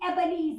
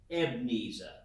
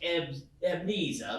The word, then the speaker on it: Ebenezer: your words with me ebenezer ask me who i was it's actually ebnesa what the e is silent the e is silent more specifically the second e it's uh it's pronounced evnisa like uh sneeza and